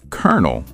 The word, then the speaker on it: colonel: It's pronounced kernel, like popcorn kernel.